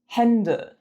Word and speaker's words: Hände: Say bet or fed. It's also the eh in hello. Some examples of this sound in German, spelled with the A umlaut, are Männer, Hände, Bälle, Äpfel.